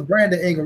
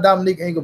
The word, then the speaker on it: Brandon Ingle: We got the name wrong. Remember, it was Brandon Ingle. Right on Tom Saab. Not Dominic Ingle, Brandon Ingle, the coach.